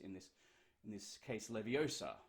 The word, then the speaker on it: Leviosa: recite in this in this in this case Leviosa not Leviosa right um you know another problem on a